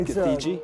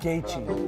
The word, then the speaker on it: Gaethje: Justin giji not many not giji no it's gaii exactly that was a